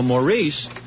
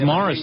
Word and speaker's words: Maurice: Maurice likes to be called Morris. I always thought your name was Maurice. No, it's just spelled the French way. Maurice. M A R. It's Morris, though.